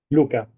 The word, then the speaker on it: Luca: How should I pronounce correctly? It's Luca or Luca? Luca.